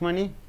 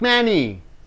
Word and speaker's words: money: yeah i won't ask money i won't ask money i won't ask manny you have to stress on money yes uh uh we